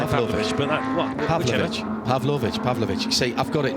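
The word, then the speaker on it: Pavlović: to third place Milos pavlovic going through pav pav why do I put an extra syllable in that are you trying to say Pavlova Pavlo pavlovic yes okay MOS I'm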